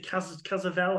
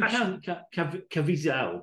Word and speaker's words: Caviezel: So there's Jim, I want to say Cazavelle. I don't know how to pronounce that name. Oh, Jim Caviezel.